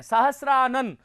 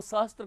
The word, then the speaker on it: सहस्र: तो इसका भी हम उच्चारण जो है वो सहस्त्र कर देते हैं। आप लोगों से निवेदन है कि, और आदेश भी है कि ये स्र का प्रयोग आप स्र ही करें, स्त्र नहीं करें, ये ध्यान रखिएगा।